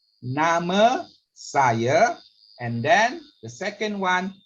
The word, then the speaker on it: nama saya: Do you mind just repeating again on the nama saya? All right. Nama saya. With the R at the back, the A sounds is like a sound.